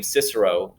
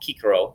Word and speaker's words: Cicero: We pronounce his name Cicero nowadays, but he'd be called Cicero back then.